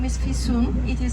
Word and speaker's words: Fisun: My name is Fisun. It is spelled F-I-S-U-N. The easiest way to memorize my name is by saying to yourself, I have to pay my fee soon. Fee soon.